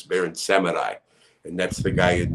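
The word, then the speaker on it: Baron Samedi: in the in the some people say baron samidi but it's barren seminai and that's the guy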